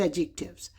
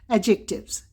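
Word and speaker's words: adjectives: The better pronunciation is एडजेक्टिव्स। एडजेक्टिव्स।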